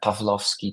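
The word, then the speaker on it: Pawłowski: Um, but yes, correct correct pronunciation of my name. Uh, Pavlovski to be precise.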